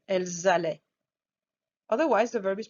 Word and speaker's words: elles allaient: il allait, elles allaient, is that you will hear the S at the end. We're going to do the liaison with elle pluriel, elles allaient.